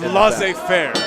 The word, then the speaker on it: laissez-faire: Look at the Matt Fitchett mocking the cocky, laissez-faire attitude of one Ace. Don't tell him I said that. I don't like the way Ace looks at me. It's laissez-faire, okay?